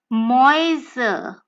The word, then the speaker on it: Mäuse: house, which is a house in English, and Mäuse, which is the plural of a mouse.